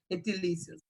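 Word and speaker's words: gentilicios: Em espanhol, ele é paroxítona, por isso eu não posso... A sílaba forte vai ser aqui, ó, ali, gentilícios. E não pode ter... Não é gentílico, a sílaba forte é o ti.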